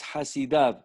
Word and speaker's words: חסידיו: והכתיב של המילה חסידיו, however, the kri is חסידיו, the ktiv is חסידו, without the yud. הוא בלשון יחיד. And that is because it's not talking in the plural. The pronunciation is in the plural, חסידיו, but the ktiv is in the singular.